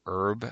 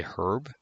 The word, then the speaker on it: herb: We say herb, but they say herb.